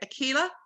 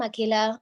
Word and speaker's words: Akila: And then I hope I say it right. Akila. Hi, yes, you said it right. I'm Akila.